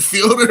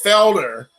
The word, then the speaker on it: Fielder: guys names is it fielder or is it fielder i think it's felder i think it's cecil felder or maybe it's like